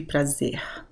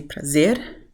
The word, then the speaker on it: prazer: which is not the case I'd say, in most of Brazil people would just use the 'h' sound, the *exhales* sound. So, it would be 'praze/h/.'